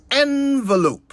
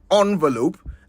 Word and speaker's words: envelope: It's envelope, not envelope, and most certainly not envelope.